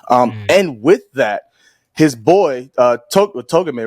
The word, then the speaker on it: Togame: And with that, his boy, Togame, right? I know I said his name earlier, but I want to make sure I'm saying it right. Yeah, Togame, the right-hand man, he was such...